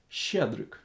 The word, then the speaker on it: Щедрик: Try to pronounce it. Щедрик.